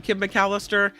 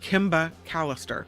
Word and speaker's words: Kim Mallister: of it all I'm Kim mallister and this this is God I have to say my name again sometimes I run it together and it sounds like Kimba Callister it's Kim it's Kim